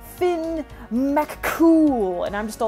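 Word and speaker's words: Fionn mac Cumhaill: community is saying slow it's pronounced Finn McCool and I'm just all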